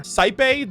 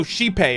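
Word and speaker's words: Xipe: of penaconi and the planet sought Refuge under saipei the harmony I think that's how you say that oh shipei okay that's right that's how you pronounce it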